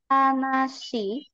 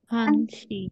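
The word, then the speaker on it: 한 시: Nah, di sini bacanya bukan nasi. Hansi.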